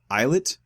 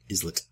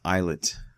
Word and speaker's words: islet: your eyes Freya Espy the eyes eyet islet no it's iset Wendy made fun of me last time islet it's eyet hang on I know but last time I think we said islet and uh my wife was very upset with us because she mispronounced everything and she finally got me she she's right yeah she's right wow I've always said islet not anymore